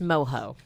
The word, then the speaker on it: mojo: just had like a Mojo Pork thing you know I'm like would he it's pronounced moho oh it is yeah